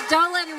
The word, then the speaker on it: Dolan: since Dolan rhymes with bowling, sort of, who's the better bowler between the two of you?